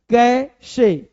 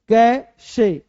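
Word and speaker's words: cache: तो कैशे या कैचे, ये से चा बोलते हैं चा, तो कैशे, यहां क्या बोलना है, कैश, कैश, कैश, कैश है ना, कैश।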